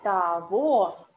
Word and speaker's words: того: Про того. You see, this г we read like в.